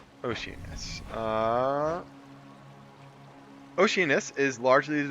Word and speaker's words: Oceanus: to the next biome done ocean I think that's how it's pronounced you know they said it earlier that's cold Oceanus uh Oceanus is largely